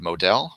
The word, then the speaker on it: Moadel: My name is Modell. Last name is spelled Moadel.